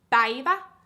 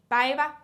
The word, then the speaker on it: päivä: Päivätär, so it's päivä, so like day. Päivä means day. So that's how you pronounce it.